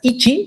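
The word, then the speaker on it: いち: So number 1 is pronounced as ichi in Japanese.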